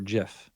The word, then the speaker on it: GIF: why we're social distanced soft G versus hard G like like GIF or GIF you know it's like